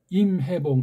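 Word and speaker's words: 林海峰: 한국의 김인, 일본의 그 대죽의 죽자 오닥계, 그 다음에 대만 출신 중국계인 그 임해봉, 그 임이 수풀림자니까 린하이핑이라고 이제 중국 발음을 하는 모양인데, 임해봉, 김인, 대죽 영웅, 임해봉.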